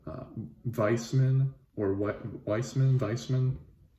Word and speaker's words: Weismann: weissman or what weissman weissman i believe you pronounce it like a v like you do my